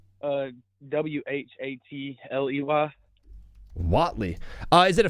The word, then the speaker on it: Watley: How do you spell that name? That's really cool. Uh, W A T L E Y.